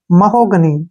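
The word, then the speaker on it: mahogany: ठीक है ना गनी क्या बन गया गनी महोगनी क्या पढ़ेंगे इसको महोगनी महोगनी होती है लाल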